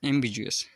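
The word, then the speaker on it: ambiguous: इसकी स्पेलिंग है ए एम बी आई जी यू ओ यू एस एम्बिजस अस्पष्ट जिसके एक से ज्यादा मीनिंग निकलते हो।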